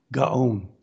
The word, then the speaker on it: Gaon: Gaon.